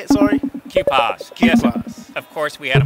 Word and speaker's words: QPAS: how do you say it sorry k-pops Jesus of course we had a modular synthesizer